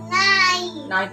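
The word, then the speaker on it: knife: के यहाँ पर साइलेंट है, ठीक है। इस के को हम नहीं पढ़ेंगे, हम क्या पढ़ेंगे? न से पढ़ेंगे। ओके, यहाँ पर के साइलेंट है, इसको पढ़ेंगे न आई नाइफ।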